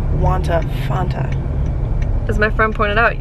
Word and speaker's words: Fanta: plate so then i started talking about fonta because that's how you say it fonta and it drives me up a wall that americans call it fanta it's not it's not